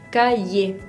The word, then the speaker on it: cahier: Cahier, no suena la R, pero suena la E, la letra precedente.